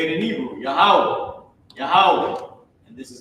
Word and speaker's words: Yahweh: This is how you say it in Hebrew, Yahweh, Yahweh. And this is how you write it in English, meaning write the pronunciation, right?